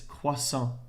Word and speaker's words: croissant: grill here we go the t is silent there's no w it's croissant then i put the